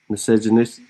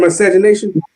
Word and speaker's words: misogynist: And it literally states that misogynist. Yeah. Would I say it wrong? Right. Misogynist. You said misogynation.